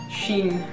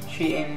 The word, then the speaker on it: Shein: But to ease the pain a bit, I ordered all these new clothes at a web shop called Shein, She-in, I say Shein, but everyone pronounces it differently.